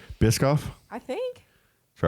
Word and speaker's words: Biscoff: is that how you say it is it bishof Biscoff Biscoff I think TR right is it good we